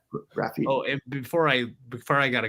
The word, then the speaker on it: Graphiti: Yeah, Beth put it looks like Get Zep at spelled with graph, GRAPHITI. Yeah. Graffiti.